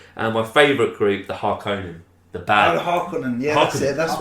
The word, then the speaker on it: Harkonnen: And my favourite group, the Harkonnen. The bad. Oh, Harkonnen, that's what I was thinking. You're pronouncing it better than me. Harkonnen.